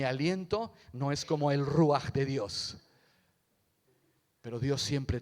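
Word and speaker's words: רוח: Antiguo Testamento es es la palabra ruaj a ver ustedes los españoles saben pronunciar bien la J ruaj ruaj ruaj quiere decir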